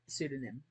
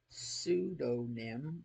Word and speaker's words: pseudonym: is he publishes under pseudonym pseudonym which is such a great word because it doesn't spell anything like the way you pronounce it which is a like